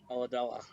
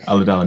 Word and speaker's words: Ulladulla: Did I pronounce it correctly? Ulladulla. Ulladulla, there we go. Ulladulla, New South Wales.